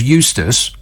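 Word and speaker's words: Eustice: the environment secretary George Eustace which rhymes with useless I'm just saying that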